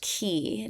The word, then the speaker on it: quay: So, qu y is actually pronounced key down by the key.